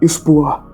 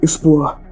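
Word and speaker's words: Espoir: Ele Bino de Gonevilo, no caso Binô Palm de Gonevilo, estava a bordo do navio chamado de Expoar, que para quem não sabe se escreve S P O I R.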